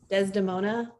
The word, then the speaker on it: Desdemona: And of course, also just want to plug Claire's book, Desdemona.